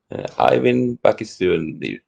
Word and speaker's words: Eivind Bakkustuen: So I'm going to say that your name is pronounced Eivind Bakkustuen. Close enough. Close enough. Well, you're very kind. Anyway, he's joining us live. How do you say your name? Eivind Bakkustuen, I would say.